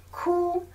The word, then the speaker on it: 哭: 哭，苦，苦，酷。